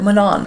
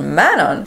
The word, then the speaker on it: Manon: a whole other character Manan who is Manan my favorite character is called Manon thank God I didn't finish the whole books and then I realized that I was pronouncing it wrong I'm sorry but I